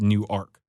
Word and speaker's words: Newark: believe I believe the while it is spelled the same as New York New Jersey I do believe it is pronounced new ark not okay Newark that's